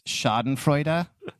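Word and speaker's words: Schadenfreude: There's a German word for this, shoden frea. Yep. I think that's how you pronounce it in German.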